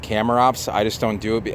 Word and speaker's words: Chamaerops: rifra which is the blue variety and I shamrock should actually be pronounced camera ops I just don't do it out of just